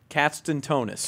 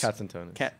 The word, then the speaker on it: Katzentonis: Katzentonis. Katzentonis. It's like cats and donuts.